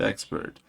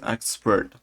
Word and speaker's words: excerpt: I keep pronouncing it expert even though it's not. It's expert.